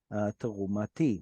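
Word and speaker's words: תרומתי: So when tav was at the end of a word, that's when the tav went silent. It went missing. It fell off, kind of like the T in French or Greek fell off. But if it's not the end of the word, the tav comes back.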